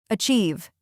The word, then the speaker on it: achieve: Achieve. Achieve. 2 syllables. Stress on the second part. Achieve.